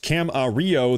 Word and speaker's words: Camarillo: Matt, it's pronounced Cam-a-rio. The LL is silent.